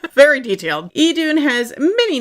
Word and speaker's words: Idun: It's just the same. It's still Edun.